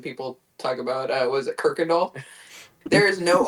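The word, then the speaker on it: Kuykendahl: But if you're from Houston, you'll probably pronounce it as Kirkindall, even though there's no R there.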